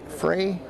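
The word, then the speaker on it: Frueh: a little bit of pain that's Macy fre Frey f r u e h is how her last name is pronounced looks like she's holding her knee so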